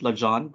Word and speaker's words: Legendre: i pronounce it as legendre the westernized pronunciation sometimes i pronounce it la john which is i think legend is french so yeah but anyway so